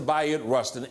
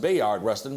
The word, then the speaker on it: Bayard Rustin: was the organizer that all roads led to bot Rustin everything that happened that day bot Rustin his name is often pronounced Bayard Rustin because that's how it spelled but he called